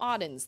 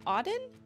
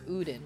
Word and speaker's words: Auden: Somebody called her Uden once. I was like, what? It's spelled A-U-D-E-N.